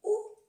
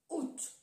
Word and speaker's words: août: Antiguamente se dice out, pero se ha suprimido la A y hay dos opciones. O se dice u, o se pronuncia la T, out.